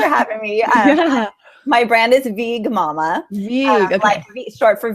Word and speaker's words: VeegMama: hi thanks for having me my brand is VG Mumma you goodbye be short for vegan vegan but